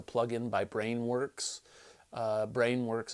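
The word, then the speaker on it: Brainworx: by brain works uh brain works is spelled b r a i n w r x brain brain works I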